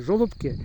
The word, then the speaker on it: Жолобки: жолобки жолобки так прави з таким наголосом правильни жолобки бо є тут недалеко